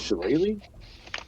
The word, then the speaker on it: shillelagh: Is that how you say it? Shillelagh? Yeah, it's like a druid spell. It's an old Irish thing.